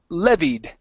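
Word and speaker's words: levied: uh this word here the word is pronounced leved the stress is at the very beginning Lev okay uh very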